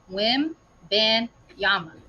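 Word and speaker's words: Wembanyama: okay so first off I'm gonna help you say his name Wim ban Yama when benyama taking it to three syllables okay yeah it's Vic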